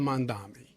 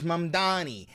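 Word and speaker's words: Mamdani: You still can't say his name right. Oh my god. Name would be Mr. Mandami. For the name is Mandani. M A N D A N I. The name is Mani.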